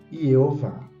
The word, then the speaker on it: Jeová: Foi só depois de 1100 que se colocou no meio um sinal vocálico para a letra O, fazendo a combinação ser pronunciada Yeová.